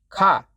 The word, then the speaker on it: ค่ะ: Noody do that does uses car with a low tone. It is not pronoun car has a mid tone.